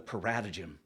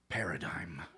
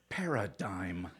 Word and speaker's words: paradigm: So I'm piping up, talking about the paratagem. You know, according to the paratagem. And this paratagem is really helpful. Finally, the teacher sighs. Paradigm. It's pronounced paradigm.